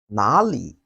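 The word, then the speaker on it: 哪里: Then the third one, where in Chinese is pronounced as nåli and nar. It has two pronunciation methods. The first method, which is nåli, is pronounced by the southern part of Chinese.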